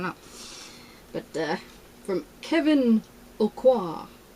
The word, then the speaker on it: Aucoin: but uh from kevin aucoin a-u-c-o-i-n so i'm sure it's pronounced french but i see all